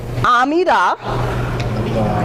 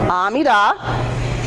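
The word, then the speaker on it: עמידה: That's how that's pronounced, Shema. Say it. Shema. Yeah. Amidah. Amidah.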